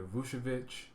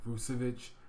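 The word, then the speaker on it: Vučević: Yeah, at the same price, if you say you can have either Vucevic, I said his name wrong, Vucevic, or Boogie Cousins, I'm taking Boogie Cousins.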